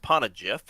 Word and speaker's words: Poneglyph: It's pronounced Poneglyph.